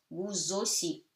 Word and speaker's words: vous aussi: You link them together, becomes Z. So vous aussi, A-U becomes O, S-I. À vous aussi.